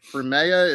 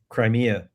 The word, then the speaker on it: Crimea: I do not know how to say it. Uh cremea. It's like a peninsula. Huh? Crimea. Crimea. Crimea.